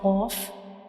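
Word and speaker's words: قاف: This is the soft palate, and when we pronounce Qaf, the very back part of our tongue will touch the soft palate like Qaf.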